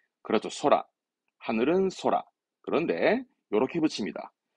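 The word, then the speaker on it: 空: 공항의 공자니까 하늘을 의미해서 발음은 그렇죠. 소라.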